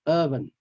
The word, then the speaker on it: oven: this group of words the first group all have the O the letter O there but it's pronounced with the H sound the not o so we pronounce these words words as oven cover dozen mother and the other ones um